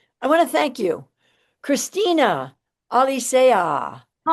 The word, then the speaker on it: Cristina Alicea: of our um I want to thank you Christina Alisa.